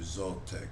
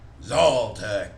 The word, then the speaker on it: Zaltec: this deep purring growl that says i am zoltec and i rule over these lands spell that t z-a-l-t-e c and say to it